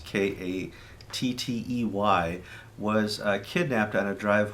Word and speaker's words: Kattey: Archbishop Katay, and that's the best we have for his pronunciation, it's Kattey, was kidnapped on a drive home, or he was out driving with his wife last Friday.